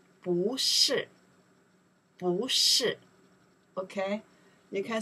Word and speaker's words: 不: In that case, we say 不是 The reasons 是 is four tones. 不 after next character, if pronounced four tones, the 不We don't pronounce the four tones. We don't say 不是 We change the tones. Second tones. We say 不是 Okay.